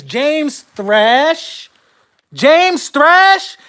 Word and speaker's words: Thrash: players the names James thrash James thrash if your name rhymes with trash I'm supposed to trust